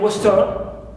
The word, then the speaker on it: western: Like in western, we stress west, right, west and not turn.